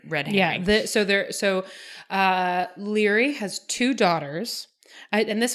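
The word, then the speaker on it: Laoghaire: ever in the books that Leary's name is spelled la o g h AI r e anyway he goes Scotch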